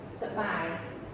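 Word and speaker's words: សប្បាយ: then the next one sabai, sabai. Okay? And this is your accented syllable there.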